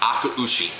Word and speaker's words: Akaushi: 747 and hauled out 11 full grown red akaushi cattle it's it's pronounced akaushi they brought home 11 akaushi the jam there was a trade there was